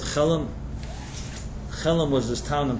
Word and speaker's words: Chelm: created this whole folklore about the people of Chelam. Chelm, if you want to do a little Googling, or some pronounce it differently.